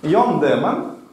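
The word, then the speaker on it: Joan Daemen: Йон Демен, ось, пишеться зовсім не так, як читається, ці голландці.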